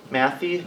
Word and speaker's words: Matthey: The Matthey Brewing Company, Matthey, you're nodding your heads correctly for the pronunciation, that had terracotta.